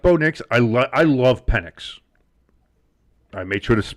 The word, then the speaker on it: Penix: I love Penix. I made sure to pronounce it correctly, too, because I don't need that soundbite.